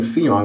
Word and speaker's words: Seong: couple weepers here but it's samong and that Sam as in like you know or Samuel um and the last name seong is spelled s e